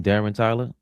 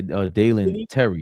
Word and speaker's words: Dalen Terry: Darren Tyler. Yeah, Dalen Terry.